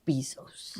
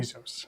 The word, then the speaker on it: Bezos: So Because we're trying to compete with Jeff Bezos. we are. Is that Yep. how you pronounce his name? Bezos.